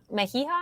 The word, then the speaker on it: Mejia: Mejia?